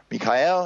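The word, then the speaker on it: מיכאל: Michael is Israel okay Mikael is the Hebrew pronunciation of Michael which means who is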